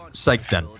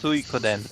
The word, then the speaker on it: Suikoden: It's Seikiden. Here, I'll show you. No, it's not. It's Suikoden. It's a Japanese word.